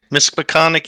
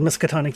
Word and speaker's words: Miskatonic: libraries yep okay well Miss Peconic University or how are you pronounce it yeah good old miskatonic you uh well a